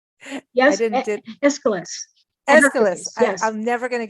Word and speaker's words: Aeschylus: The one painting that I wanted to talk about is you're gonna pronounce it for me. Ecolus and Hercules. Did I say that right? Yes, I didn't. Aeschylus.